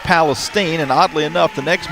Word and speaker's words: Palestine: Q wear zero a 510 junior from it looks like Palestine, Texas, but it's pronounced Palestine.